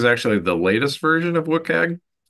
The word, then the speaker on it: WCAG: There's also the Web Content Accessibility Guidelines, or WCAG, as we pronounce it.